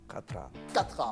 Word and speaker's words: Khatra: Excellence Monsieur Mohamed Abdallahi Khatra ou Khatra. Khatra, voilà, vaut mieux dire le K parce que dans certaines langues arabes, on ne le prononce pas.